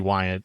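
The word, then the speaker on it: Weyandt: Well, I I called him Dan Wyant for years, but it's actually Wyatt.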